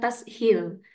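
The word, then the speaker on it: تسهيل: kembali Nah selanjutnya adalah tashil ini bukan Tasil tapi tashil tashil itu sendiri artinya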